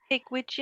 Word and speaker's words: Pigwidgeon: I'm a bit concerned because I just Googled Pidgewigeon. Is that how you say it? Pigwidgeon, Um, yeah.